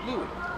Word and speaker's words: Louis: spelling would have you think it's Luis, but it's actually Louis.